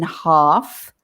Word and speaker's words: half: Of course, the spellings are horrible because everybody wants to say the L in half.